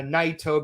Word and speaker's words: Naito: with tougher and uh naito because it rhymes with lighto Yagami okay I will allow